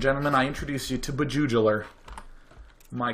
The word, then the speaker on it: Bjuejeuler: his name mechanical this game is Just profoundly beugel that's right beuel it's a word I made up that means